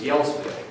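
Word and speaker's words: Gjelsvik: But their name when they got to this country wasn't Thune, it was Yelsvik.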